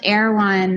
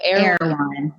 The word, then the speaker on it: Erwan: You can pronounce Erwan. Oh, Erwan.